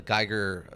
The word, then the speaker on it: Geiger: that Geiger like a geiger counter I didn't know how to pronounce it okay it's Geiger like geiger counter okay cool yeah I